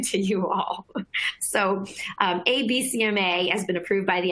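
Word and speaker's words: Abecma: pretty witty name to it they call it abcma it's spelled a b e c m a just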